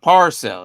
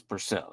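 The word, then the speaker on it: Pearsall: So don't say it's not Parcell, it is Purcell. So it's like Pier. It might even pronounce it as Purcell, but it's Purcell.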